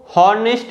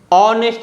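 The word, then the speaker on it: honest: नहीं करना है क्योंकि आपको नेस्ट नहीं ऑनेस्ट रहना है इसमें जो लेटर एच है या साइलेंट है और हार्स नहीं होता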